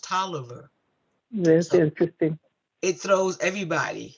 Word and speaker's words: Taliaferro: t-a-l-i-a-f-e-r-r-o like califarro but it is actually pronounced toliver that's interesting it throws